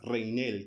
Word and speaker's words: Reinel: En fin, ¿cómo estás, Reinel, con acento en la E?